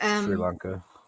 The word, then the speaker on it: Sri Lanka: But probably Asia, like Thailand or Sri Lanka. I don't know how you pronounce that in English. That's correct. Sri Lanka.